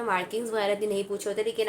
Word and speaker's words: Marquis: prop से ठीक है इसको हम लिखते तो वैसे मार्किस है लेकिन इसको प्रोनाउंस हम मार्की करेंगे तो जो मार्की प्रूप